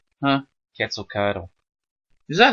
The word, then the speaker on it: Quetzalcoatl: Quetzalcoatlus. Quetzalcoatl, which is the feathered serpent of... It's actually... Mayan... That last part is pronounced Coatl. Huh? Quetzalcoatl.